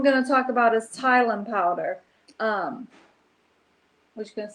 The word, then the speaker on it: Tylan: How do you pronounce Tylan? Thailand.